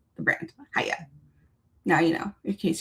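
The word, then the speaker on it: Heye: you have to like pretend you're doing karate and you have to go hya and that's how you pronounce the brand haya now you know in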